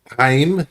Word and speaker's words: Chaim: Yeah, Heim. Heim. Yeah, I That's how you can't pronounce pronounce.